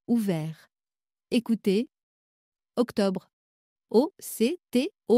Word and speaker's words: octobre: Écoutez, octobre, O-C-T-O-B-R-E. Bol, B-O-L. Parole, P-A-R-O-L-E. Volcan, V-O-L-C-A-N. Troisième façon, O qui s'écrit E-A-U.